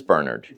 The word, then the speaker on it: Bernard: to correct people so CJ so it's not Bernard it is Bernard or pronounced ber I like that ex yeah okay